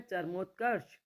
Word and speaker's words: चरमोत्कर्ष: रहा है अगला है चरमोत्कर्ष चरमोत्कर्ष र पूरा आएगा चरमोत्कर्ष कर्ष तो क के बाद र का उच्चारण हो रहा और लगभग शपना तो